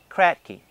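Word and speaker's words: Kratky: not familiar with him his last name is spelled k r a t k y crack key what he said was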